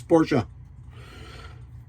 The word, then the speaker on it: Porsche: It's not a Porsche. It's Porsche. I know this because Matt told me so.